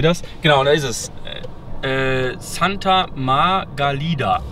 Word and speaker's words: Santa Margalida: Santa Margalida, so wird das ausgesprochen.